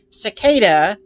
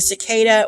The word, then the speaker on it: cicada: mispronunciations, but it's a cicada. No N involved, which for some reason, I've seen a couple people pronounce it with an N in there. There's no N. But it's a cicada, or here in the